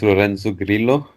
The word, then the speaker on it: Lorenzo Grillo: It's pronounced Lorenzo Grillo in its original language.